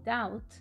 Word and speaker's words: doubt: Por ejemplo, las palabras debt y doubt son también préstamos del francés, debt y tout, pero su ortografía se modificó añadiendo una B totalmente innecesaria porque no se pronuncia para nada, para mostrar que esas